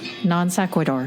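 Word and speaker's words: non sequitur: It's pronounced nonsequidor.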